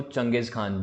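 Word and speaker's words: चंगेज़ ख़ान: से जानने लगे हैं और आज हम चंगेज़ खान को ईपीएस jiomusic खान की तरह ही पड़ते हैं इसको चंगेज खान पढ़ा जाता है तो यह चीज है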